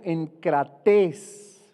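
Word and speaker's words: ἐγκρατής: Y esta palabra también tiene su raíz en el griego enkrates, con K y con acento en la I, que significa dueño de nosotros mismos, dueño de nosotros mismos.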